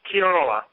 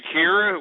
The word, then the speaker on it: Kiora: of my friends, namely Kiora. It's spelled like Kyora. Yeah, Kiora. She's a friend of mine. Did you say Kira? Where's Kira? Is that what you said?